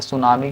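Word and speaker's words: tsunami: होता है पता है सुनामी का स्पेलिंग टी से स्टार्ट होता है किस से स्टार्ट होता है टी से बाकी सुनामी जैसे लिखाता लिख दि टी साइलेंट रहता है ठीक है ना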